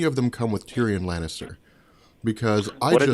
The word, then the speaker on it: Lannister: And then the last part is Lanniston. No, that's not right. Lannister.